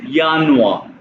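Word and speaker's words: Januar: दिया इसको अभी इग्नोर करो ये है पहले यानुआ कैसे पढ़ेंगे यानुआ सेकंड है यानुआ।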